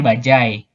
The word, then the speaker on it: bajaj: sih ya Oh ya Ini bacanya budget ini bukan merek ini bukan merek kalau merek ini nih bacanya bajaj tapi ini sudah masuk KBBI disebut dibacanya itu adalah budget akhirnya itu pakai j ya bacanya itu budget sepekan bajaj seperti itu karena itu termasuk KBBI dan itu bukan nama merek kalau mereknya bajaj oh yang diikat gue itu